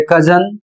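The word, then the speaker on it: cousin: अगला शब्द है सी ओ यू एस आई एन और इसे पढ़ा जाता है कजन।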